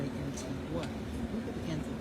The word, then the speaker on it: Antigua: And they say Antigua, even though it's spelled Antigua. Antigua in Guatemala is spelled the same way that they say Antigua.